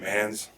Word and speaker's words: Mancz: name for it oh my name is manz i'm an cz the c is silent awesome yeah we promised